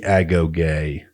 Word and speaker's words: agoge: dive analysis of the Spartan education system the ago gay and yes that is how you pronounce it I am welcome to